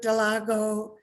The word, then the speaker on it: Dallago: announcements and then we're going to have rick delago how do you say your last name rick that was perfect delago dilago okay good and and rick's gonna start a